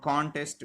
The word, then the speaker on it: contest: first syllable for example the word contest which I wrote the contest here the stress will be on the first syllable and not on the second the world contest